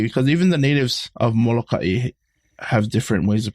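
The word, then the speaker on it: Molokaʻi: Some say Molokai without the okina. Some just say Molokai. I don't know. I've always known it as Molokai, so that's what I call it as.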